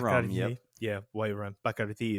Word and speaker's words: Bacardi: Bacardi is the way you pronounce it correctly.